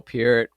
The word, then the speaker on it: Peart: rest in peace, Neil Peart.